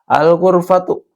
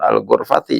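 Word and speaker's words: الغرفةُ: Al-ghurfatu. Ini dibacanya al-ghurfatu, bukan al-ghurfati ya. Karena tidak ada yang memulai. Tidak ada amilnya di sini. Maka dibacanya tetap domah.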